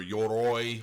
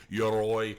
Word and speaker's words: Yoroi: the YORI wallet or YOROI or whatever you want to call it. I know how it's pronounced, but I call it YORI because it's just easier for those of you